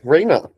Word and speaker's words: Reina: So, Reina, I'm going to share my screen. Am I pronouncing your name right, by the way?